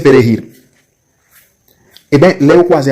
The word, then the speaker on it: Perejil: C'est difficile pour les haïtiens pour prononcer Perejil. Eh bien, là, vous croisez avec un dominicain noir, il dit prononcer ça plusieurs fois. Perejil.